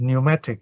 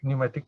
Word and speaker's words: pneumatic: there is this word pneumatic pneumatic tires it's spelled p n e u m a t i is c pneumatic p n e u the p is silent as a child i